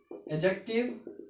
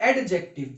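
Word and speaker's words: adjective: Noun, pronoun, एडजेक्टिव, इट्स नॉट एडजेक्टिव, इट्स एडजेक्टिव, डी is silent.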